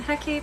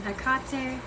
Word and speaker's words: Hecate: missed any comments um I pronounce her name hecky some people are pronounce her name Tecate there's also hecatee uh Max I'm still